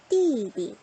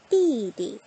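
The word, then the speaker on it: 弟弟: 띠디, 띠디, 빠바, 띠디.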